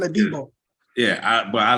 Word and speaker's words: Adebo: Because, you know, like we still got Abadej, how you say his name? He was a rookie last year and started. Adebayo. Yeah, Adebayo. We Not still Adebayo. like it's something like Paulson Adebo.